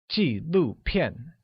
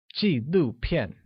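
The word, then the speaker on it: 纪录片: horn kanji blue pin where documentaries translates as G blue pin with falling tones on all I you na once again it's G blue pin great alright it's quiz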